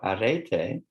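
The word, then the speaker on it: ἀρετή: is in ancient Greek unlike English there are no silent vowels so wherever you see a vowel it's pronounced in its own right so Arete um and sometimes translated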